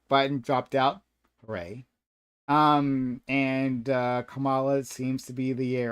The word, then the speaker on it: Kamala: Look, Kamala, which is how I understand her name is pronounced, lost the last primary pretty handedly, got just destroyed.